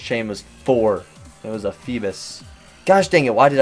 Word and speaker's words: Feebas: I've been listening to so many people called it Phoebus and it like anger it's a bass I would it not be feebas I don't know though you